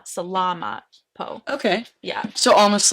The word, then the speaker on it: salamat po: You're supposed to put the emphasis on the la, salamat po.